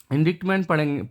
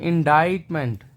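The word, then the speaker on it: indictment: इंडिक्टमेंट पढ़ते होंगे इसको, लेकिन इंडिक्टमेंट नहीं, इसका प्रोनाउंसिएशन है इंडाइटमेंट। इसको मैं लिख देता हूँ, इंडाइटमेंट, ये इसका प्रोनाउंसिएशन है दोस्तों।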